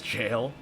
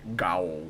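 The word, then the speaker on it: gaol: Is so many people don't know that word is jail, and I like seeing the way people pronounce it when they don't know.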